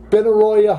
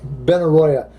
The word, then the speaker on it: Benaroya: the triple door and Benaroya Hall though Benaroya that's a large name if I spelled it right or pronounced the right B and a are a B and a are Oh Y a Benaroya Hall those most interested